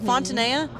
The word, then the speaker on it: Fontanilla: Fontanilla? Fontanilla.